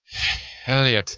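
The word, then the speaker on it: Heliot: Oh, I was a three in ex Elliot Ramos of the Giants. He got up five times. Can I say Can I say that name is spelled way too cool for it to be Elliot? Elliot.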